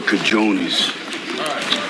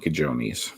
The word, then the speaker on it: cojones: There's no way Rocky should be saying cajones because he never saw it written down. If you saw that written down, you would mispronounce it if you didn't know the J sounds like an H.